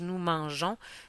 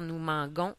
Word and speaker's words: mangeons: je mange tu mange nous mangeons si on veut pas faire nous mangons on doit absolument mettre un e après le G les verbes en I